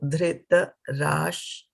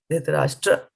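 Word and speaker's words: धृतराष्ट्र: So Dhrita Rash. I forgot the tra. Dhritarashtra Uvacha Dharma Kshetre Kurukshetre Samaveta Yut Savaha Mamakaha Pandavash Chaiva Kim Akurvat Sanjaya.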